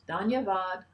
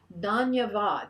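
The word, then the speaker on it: धन्यवाद: words just two words danyavad ananda and it means gratitude bliss isn't that great danyavad so you can repeat after me it's three syllables don that means gratitude ananda three syllables again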